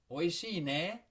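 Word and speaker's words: おいしいね: Oishii ne. Oishii ne. You hear how I rose my intonation there? It makes it into a question.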